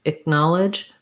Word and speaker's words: acknowledge: different than acknowledge um so what we want is a stress on the gnaw syllable and then this to have a really reduced vowel it might even be like an it or an uh then with my stopped k it acknowledge acknowledge acknowledge i think i kind of use an uh there it's basically a reduced vowel because the null syllable